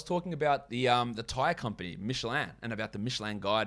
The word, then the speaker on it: Michelin: So that is why I would say Michelin, like Michelin for the Michelin guide, the Michelin stars, because it's a French company and that is how the name is pronounced.